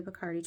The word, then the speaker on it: Bacardi: We did a Bacardi tour, or if you go to the Bacardi tour, they will pronounce it Bacardi.